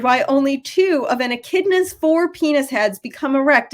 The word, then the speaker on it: echidna: little skin for the echodeena in personal news sorry kristen's signing her up sorry interrupt but it's pronounced echidna i'm a science fan